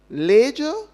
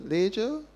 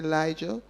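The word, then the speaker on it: Lejja: And so, Leger is how it's pronounced. Leger. I believe some people say Lijah, but if you go to Ibuand, the oldest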